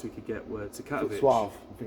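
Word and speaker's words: Katowice: Um, and the only flights we could get were to Katovich I think it's pronounced.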